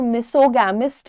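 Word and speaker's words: misogamist: को हम बोलते हैं मिसोगमिस्ट। प्रोनाउंसिएशन पर ध्यान देना बेटा, हम यहाँ पर मिसोगैमिस्ट नहीं बोल रहे हैं, हम बोल रहे हैं मिसोगमिस्ट, है ना।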